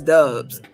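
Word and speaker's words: Doubs: Got another wide receiver who I think Romeo Dubs is a code name because they don't like it to be pronounced Dubs, but it's Dubs.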